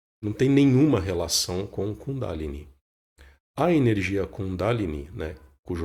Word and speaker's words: Kundalini: começar pela pronúncia, né, que muita gente pronuncia Kundalini. E não é bem isso, né? Na verdade, existe uma tonicidade na sílaba da, né, para pronunciar o nome, Kundalini.